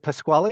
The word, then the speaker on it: Pasquale: Is it Pasquale? Is that how I say it? Pasquale, that's correct.